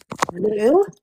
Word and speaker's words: Lugh: I'm trying to pronounce it right, so it's kind Lu. of like Lu. talking a loogie.